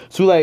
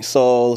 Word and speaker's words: Sule: Like, teachers, you call me Saul, Sully, or whatever. They be like, oh, Sule, oh, it's not that difficult to pronounce.